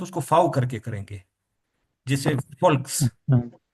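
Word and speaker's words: Volk: जैसे फोल्क्स, अच्छा हाँ जैसे ये है, फोल्क्स, फोल्क, फोल्क का मतलब होता है पीपल।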